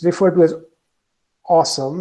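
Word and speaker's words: OSEMN: cycle very and it's it's referred to as awesome it's you it's pronounced different it is spelled differently but it's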